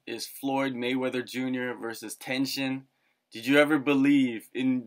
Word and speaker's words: Tenshin: How do you pronounce the Tenshin? Tenshin.